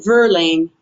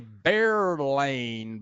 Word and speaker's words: Verlaine: Oh, Verlaine. Verlaine. And I'm tempted to say Bearlane because the V in Spanish is pronounced B.